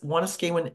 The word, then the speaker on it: Wanuskewin: and we're going to talk a bit about Wan skan I it took me a long time to learn how to pronounce this wanas skan Heritage Park which is located in Saskatoon and